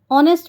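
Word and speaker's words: honest: हॉनेस्ट हम लिखते ज़रूर हैं हॉनेस्ट, लेकिन एच यहाँ साइलेंट होता है। ऑनेस्ट बोलते हैं तो ऑनेस्ट बोलते वक्त साउंड क्या आता है? ओ का।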